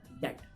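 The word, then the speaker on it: debt: इस वर्ड को बहुत से लोग डैप पढ़ते हैं, मैं भी डैप पढ़ा करता था, वर्ड टू वर्ड जैसे हम पढ़ते हैं, पर इसकी एग्जैक्ट प्रोनाउंसिएशन क्या है? डैट। व्हाट? डैट। बा साउंड नहीं है, डैट, जिसको हम कर्ज कहते हैं हिंदी में, इसकी इंग्लिश क्या होती है? डैट।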